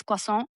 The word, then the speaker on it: croissant: You know, it's like croissant isn't crescent, it's croissant या, because that's French is a little different. यस, आपको लगता exactly. है कि QUA है, but it's actually CROI.